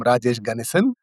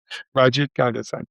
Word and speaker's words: Rajesh Ganesan: and his name is Rajesh Ganesan. If I mispronounce it, I apologize. Ganesan. Rajesh, correct me. How's it said? You did well, Alan. I'm Rajesh Ganesan. Rajesh Ganesan.